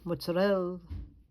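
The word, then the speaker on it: mozzarella: But she knew the proper way to pronounce regott and mozzarell.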